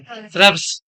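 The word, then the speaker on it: shrubs: बोलेंगे, सरब या सर्ब्स, श्रब्स, श्रब्स, Hindi medium वाले कौन कौन है, श्रब्स, श्रब्स, आर पहले आ रहा है ना, आर पहले आ रहा है ना, श्रब्स, ये बोलना है, ये है प्रोनाउंसिएशन इसका।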